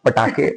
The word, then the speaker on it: पटाखे: या फॉर a simple reason, क्योंकि मैंने प्रोनाउंस भी गलत कर रहा हूँ, फटाके बोल रहा हूँ, पटाखे पटाखे बोलते हैं.